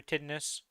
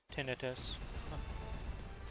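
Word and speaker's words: tinnitus: Or did that just happened to you for titness? I feel like I butchered that word. Tinetus. Oh no. Tinetus. Okay. It is how you say it.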